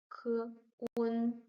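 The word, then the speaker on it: 困: And we have k, un, k, un, kun. Fourth tone, kun, kun, which means tired, exhausted.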